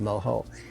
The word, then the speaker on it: mojo: if you see it in spelling but it's pronounced moo and I was making a classic um seon